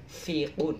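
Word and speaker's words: يُنْفِقُونَ: Pikun itu orang yang pendengarnya itu berkurang ya. Tapi jangan pikun, tapi fikun pakai F.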